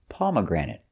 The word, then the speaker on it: pomegranate: Our next one is a fruit, and the pronunciation is pomegranate. Pomegranate. Stress is on the first, pomegranate, and third syllable.